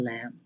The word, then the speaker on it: lamb: na Ong maging sacrificial lamb wow sacrificial L silent B kasi y so lamb lamb tapos lamb a ngayon